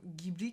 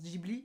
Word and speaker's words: Ghibli: est déjà trop tard, du coup au Japon on prononce Ghibli, et nous on le prononce Ghibli.